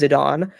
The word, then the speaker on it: Zidane: started the game I called him zidane but in De cidia he's called zidan zidan okay so because I always thought it was yeah that was not the case yeah I think the canonical pronunciation is zidon and if that Final